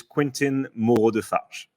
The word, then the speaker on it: Quentin Moreau-Defarges: me here uh so my full name is quentin mordeface beautiful beautiful music to my ears but i